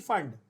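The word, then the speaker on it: Pfund: पी फंड, पी फंड, FUND, फंड, पी फंड। नाउ the name actually is फंड, द पी is silent, but we call it पी फंड so that बच्चों को spelling याद रहे।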